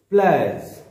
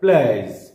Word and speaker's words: pliers: বানানটি হচ্ছে PLIERS, কিন্তু এটাকে যদি আমরা উচ্চারণ করি, উচ্চারণে এটি এসে যাবে PLAIUHZ, অর্থাৎ এটার উচ্চারণ হয়ে যাবে প্লাস।